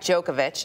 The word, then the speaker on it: Djokovic: 2010 finalist Novak Djokovic.